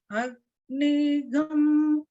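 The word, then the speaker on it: अग्निगं: So sarvagam and agnigam, they kind of sound similar. But the swara patterns are different for those words.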